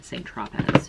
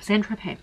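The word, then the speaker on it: Saint-Tropez: i'm pretty inspired by st trophies to st tropez saint tropez san tropez centro i've been saying it wrong sorry you know how you know when somebody's a reader they don't know how to pronounce anything so santropay we're gonna go with that okay and then i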